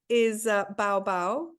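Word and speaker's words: bau: Oh yeah, the dog bark is bow bow. Bow bow, so not woof woof.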